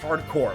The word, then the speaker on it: Hard Corps: Hard Corps is pronounced hardcore.